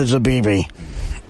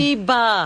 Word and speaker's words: Zabiba: I would donate one of everything I ate to Zabibi. I thank you. Isn't that her name? What's her name, Robin? Zabiba. Oh, I'm sorry. Oh, I'm so off with Zabibi.